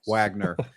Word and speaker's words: Wagoner: It's pronounced Wagner.